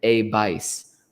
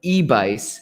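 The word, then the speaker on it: EBAIS: care facility that is called an a vice or ebis if you're sort of pronouncing it in english e b a i s you still see eba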